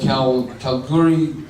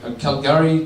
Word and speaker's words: Calgary: studies from the east basically a professor from cow calorie Calgary University of the burner phone pronouncing that right what was that sorry that's